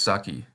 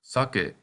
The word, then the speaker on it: sake: You might not know what this word is, because in English it is usually pronounced saki, but this is sake, the Japanese rice wine.